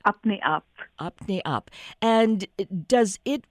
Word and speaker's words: Apne Aap: Is it pronounced Apne App? Yes, perfect. Oh, good. It's Apne Aap.